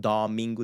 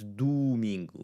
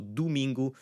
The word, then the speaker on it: domingo: It's not domingo, it's domingo. And Portuguese speakers will domingo. So both the O at the first syllable, do, and the U and gu, domingo, is going to have more of a U sound.